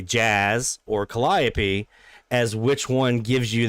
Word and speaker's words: Calliope: Down here in New Orleans, we call it Calliope. That's how we pronounce it down here.